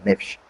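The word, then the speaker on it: נפש: É porque alma, nefesh, gosto dessa maneira de pronunciar, nefesh.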